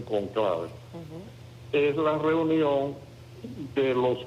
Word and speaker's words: conclave: el conclave, así que se pronuncia en italiano, conclave, porque es por la palabra llave. Llave en italiano llave y en español se dice cóncave, pero en los italianos le dicen cónclave.